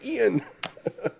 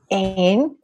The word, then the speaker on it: Ain: keep in my head wanting to say Ian. I know, me too. It's okay. You can totally say that because that's honestly how I said it until I was told how it's actually pronounced like a couple days ago. Okay. Ain.